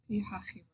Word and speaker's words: Pi-Hahiroth: Pi-Hahiroth.